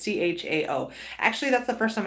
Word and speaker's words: Chao: and Transportation Secretary Elaine, is it Chow, implemented it. I'm not sure how it's pronounced. I'm not sure how to pronounce her last name. It's Chao.